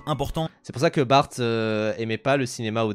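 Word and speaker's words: Barthes: Bien sûr, qui se prononce Bart d'ailleurs ? parce que je sais que j'ai des potes qui qui font des vidéos parfois sur le cinéma et qui disent Roland Bartes, ce qui est vraiment bref Feldob, il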